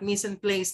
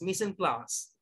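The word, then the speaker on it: mise en place: set in place again missing class not missing place no you pronounce missing class very good missing class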